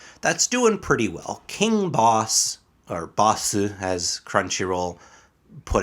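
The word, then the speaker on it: Bosse: say Basu they say boss I mean that's that's because in Japanese like that Su sound at the end oftentimes can just become that s like Des you know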